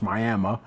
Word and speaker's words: Miami: Our fight was in Miami, spelled like Miami, pronounced Miami, Oklahoma.